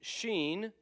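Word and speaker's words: שין: scen s and then Sheen sh sh and then Tav T sound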